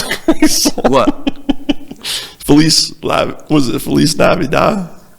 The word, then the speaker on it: Feliz Navidad: Feliz Navidad? Or La Vida? What, am I saying it wrong? Yeah, I think so. Yeah, I know. At least I got the first part right. Feliz Navidad.